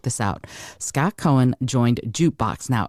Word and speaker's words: JKBX: out Scott Cohen joined jukebox now it's pronounced jukebox but it's spelled JK BX in 2022 as founding